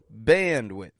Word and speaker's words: bandwidth: word I'm saying there bandwidth notice that word very useful one notice how the an stretches out in band and bandwidth and again the first syllable is stressed the second quick and quiet bandwidth so what is